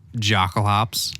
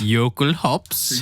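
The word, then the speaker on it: Jokulhaups: It is Jockalops. Hockalops. Yokelhops. Yokelhops? What the fuck? I've never heard anybody call it that. Yokelhops? That's like the correct pronunciation. I always heard people either say Jockalops or Hockalops.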